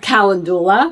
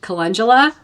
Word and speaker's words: calendula: I've heard people say it like that, it makes me chuckle cuz it looks like it's spelled calendula, Mhm. but it's actually um calendula Mhm.